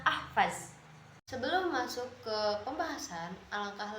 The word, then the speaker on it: Ahvaz: Sebenarnya kota ini bernama Ahwaz, akan tetapi orang-orang memanggilnya atau membacanya Ahvaz.